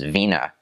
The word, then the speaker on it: Wiener: that's how you say Viennese in it is Vina and it's also what Germans will call a